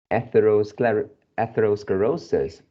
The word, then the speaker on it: atherosclerosis: So the fourth one, the SCLE should be pronounced as Scler. in the phonics SKL SKLE. So it's scler.